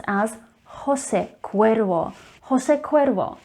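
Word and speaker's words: José Cuervo: most popular tequila brands in the world is pronounced as jose cuervo jose cuervo not jose cuervo remember that the letter j is actually pronounced as her sound so jose cuervo and we are staying with the alcohol brands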